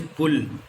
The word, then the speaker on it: pull: Both of these words have U in mid of these words, but pronunciation is different. As in first one it is pull, and in the last one it is cut.